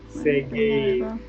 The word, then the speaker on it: seguir: The U is silent. Gira. Guitarra. Wait. Seguir.